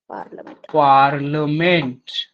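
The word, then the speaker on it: Parliament: हा member of पार्लमेंट तर पी ए आर एल ला आय लक्षात ठेवायचा स्पेलिंग मध्ये मेंबर ऑफ पार्लमेंट त्याच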